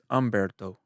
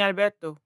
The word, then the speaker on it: Humberto: Is it Umberto or Alberto? Humberto. But you've been saying Alberto. Maybe because like how I pronounce words. But it's Humberto.